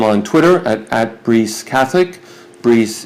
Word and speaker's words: Brice: Brice is the French pronunciation of Bryce.